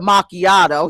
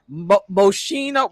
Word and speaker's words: macchiato: Listen, we call it macchiato. He said moshino.